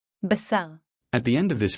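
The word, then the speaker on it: בָּשָׂר: This is how these two words are pronounced. SÁRX. Basar.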